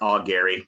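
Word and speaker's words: Augeri: and it's with um i think you pronounce it steve all gary but i'm not exactly sure it could be all jerry i believe it's our gary with a hard g yeah yeah so this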